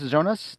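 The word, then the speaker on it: Jonas: the casting g g Jon is it pronounce zonas does he pronounce it that way or yo yonas yonas okay um like like cing him did you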